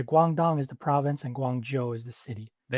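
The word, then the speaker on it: Guangzhou: Guangdong is the province and Guang Joe is the city. There we go. Yeah. Joe like the name J O Joe. And cities like Guang Joe J obviously home to China Southern.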